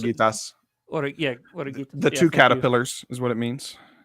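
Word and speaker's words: Oruguitas: I forget how you Dos pronounce it. Oreguitas.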